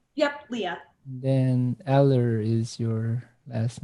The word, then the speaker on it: Lea: So let me just make sure I'm pronouncing your name correctly. So Leah, right? Yep, Leah.